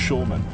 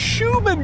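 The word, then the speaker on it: Shulman: air time a dick there's an L in my last name it's pronounced Schulman what do you mean it's schan baby it's Schuman dick it's been great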